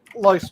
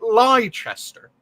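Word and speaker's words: Leicester: from this place yes it came from ler which many people if they see it and they're pronouncing it strangely they would probably say liester ah still don't know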